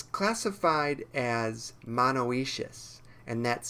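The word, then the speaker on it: monoecious: grows in Southeast Asian forests it's classified as monoacious and that's spelled m-o-n-o-e-c-i-o-u-s and if we look at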